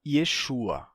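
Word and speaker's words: ישוע: por assim dizer h Então vamos lá em hebraico a gente pronuncia isso normalmente como Yeshua Porque tem uma regra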